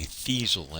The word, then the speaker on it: Thizzle: I keep saying Thizzle, and it's actually Thiesel, as in diesel.